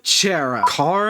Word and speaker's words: Chara: Oh, and speaking of the voice in their head, let's talk about Chara. Chara? It's pronounced Kara as a character, you stupid motherfucker, you